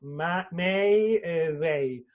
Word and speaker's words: Mayday: Mayday, y recuerden que se pronuncia así como lo acabo de decir yo, Mayday, con pronunciación inglesa, ¿no?